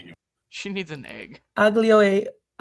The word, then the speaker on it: aglio: I guess Aglio the e G is silent.